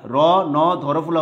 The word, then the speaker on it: রন্ধ্র: তারপরে ন ধরফলা উকার, র ন ধরফলা উকার, রন্ধ্র।